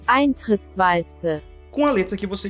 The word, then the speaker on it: Eintrittswalze: essa parada em alemão aqui embaixo, que se pronuncia Eintrittswalze.